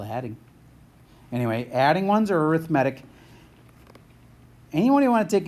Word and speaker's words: arithmetic: add its arithmatic and I totally get this is spelled like arithmetic but you say it arithmatic if it's adding or